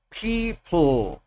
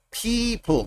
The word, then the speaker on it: people: People. People. Yo no digo people, no, people.